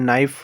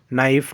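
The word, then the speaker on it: knife: के यहाँ पर साइलेंट होता है, जैसे नाइफ होता है, नाइफ, नो, नी, के, ठीक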